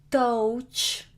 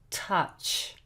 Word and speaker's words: touch: It's not touch, no, it's touch.